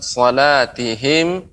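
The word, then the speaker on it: صلاتهم: Ya, pengucapan salatihim tidak terlalu lama mim matinya.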